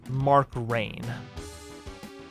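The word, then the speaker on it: Rein: The original business guy, Mark Rhine, I think it's pronounced Mark Rain.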